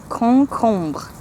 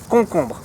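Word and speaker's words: concombre: koo kumba Hong Kong so the first two syllables are the same thing you just repeat it and at the end again a little bit of ER but it's pretty close to cucumber koo kumba we've got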